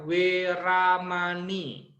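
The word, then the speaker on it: veramaṇī: dibaca wae Pedi baca W misalkan veeramani itu dibacanya uwir ramani terus ada m titik atas Khadam dibacanya padang-padang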